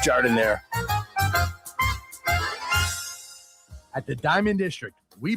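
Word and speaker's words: giardiniera: And guys, when you're at the counter, don't call it gardenia. It's pronounced Jardiniere.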